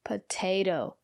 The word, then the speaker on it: potato: as T potato and the syllable after the second T is not stressed we pronounce the letter t as D potato and we have these